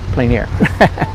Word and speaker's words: plein air: planer this is called plein air painting right french pronounced plein air um so either i